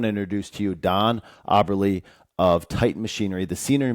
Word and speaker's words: Aberle: But our last name, in remembrance of my father, is Aberle. Aberle. So where does that come from? My dad. He's got brothers that pronounce their name Aberle. Oh, okay. But my dad is a stubborn German. I was going to ask his German roots, yeah. He goes by Aberle, and he let us,